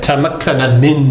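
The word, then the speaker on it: تمكن من: Tamakkana min.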